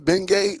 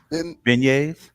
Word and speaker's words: beignets: Uh, uh, oh, how do you say this again? Bengay? What is it? Beignets. Beignets. Beignets.